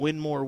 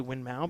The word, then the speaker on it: Winmau: somebody's calling me out for my double duel winmore winmau compliment and that's true I did I